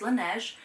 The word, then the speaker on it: Laneige: So it's Laneige eye sleeping mask.